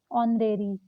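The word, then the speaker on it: honorary: आगे H silent, जैसे देखिए ऑनरेरी।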